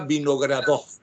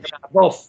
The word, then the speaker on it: Vinogradov: Ella es Ludmila Vinogradov. Pronuncié bien tu apellido. Muy bien. Vinogradov.